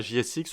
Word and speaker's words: JSX: donc JSX comme ça JSX on va le prononcer à la française et ça veut dire